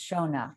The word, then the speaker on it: Shona: pronouncing your name wrong it's pronounced shona right yes okay sorry about that